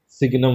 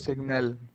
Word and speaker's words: signum: सिग्नम function. सिग्नल। सिग्नल नहीं, यस सर। सिग्नम, सिग्नम, हाँ। SIGNUM, इसकी जो सिग्नम स्पेलिंग होती फंक्शन।